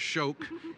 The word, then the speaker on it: Shoke: It's pronounced Shoke. It's the Irish god of lightning.